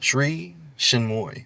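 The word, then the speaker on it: Sri Chinmoy: How you pronounce her name? Sri Shinmoy.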